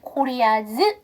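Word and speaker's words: Korea's: 다음에 여기서 보시면 s가 세이즈에도 s가 붙고 그 다음에 코리아즈에서도 s가 붙었죠 원래는 s가 없으나 부가적으로 붙었는데요 두 개가 발음을 동일하게 하지 않아요 얘는 변형이 있으니까 발음 안 하셔도 되지만 이건 소유격이기 때문에 코리아즈 이렇게 해주셔야 됩니다 자 그 다음에 여러분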